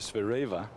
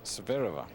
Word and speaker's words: Zvereva: her name you know I always used to call a sphere Ava but she liked to call herself severe over and takes a little